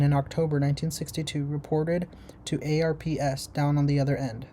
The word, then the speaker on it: ARPS: To ease the transition from test pilot schools to ARP- ARPS rhymes with Corps.